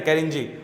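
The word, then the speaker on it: Kerinci: उसके आता है कैनजी कैरिन जीी ठीक साइलेंट है कैरिन जीी उसके आता है किना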